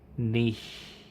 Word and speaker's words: niche: or something cre dashboard pronounced Niche yeah Niche Niche depends on the person I guess nich nich emphasizes the E nich nich Nish n huh are you having